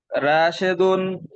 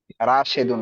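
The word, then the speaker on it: رَاشِد: বলেন রাশেদ একজন শিক্ষক রাশেদুন মুয়াল্লিমুন রাশেদুন না উচ্চারণটা হবে রাশিদুন হ্যাঁ না হয় আরবি হবে না রাশেদুন বলেন মুয়াল্লিমুন রাশেদ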